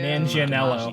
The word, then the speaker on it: Manganiello: Manganiello.